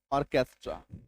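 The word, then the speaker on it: orchestra: जब किसी शब्द के बीच में, जब किसी शब्द के बीच में CH आ जाए तो मैक्सिमम टाइम CH का उच्चारण क होगा, मैक्सिमम टाइम।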